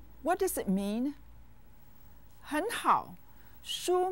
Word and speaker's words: 书: Look at the word 书. What does it mean? 很好. 书 means book. It's said with the first tone.